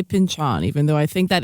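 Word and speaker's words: Pynchon: It's first of all, it's pronounced Pinchon.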